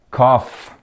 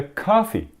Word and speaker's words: coffee: Um exemplo é cough, coffee, coffee, café, cough. Cough significa isso, cough. Mas o certo é coffee.